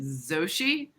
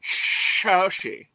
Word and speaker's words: Shoshi: You might have to pronounce it Zoshi, but I'm fine with that. I'm gonna pronounce it Shoshi.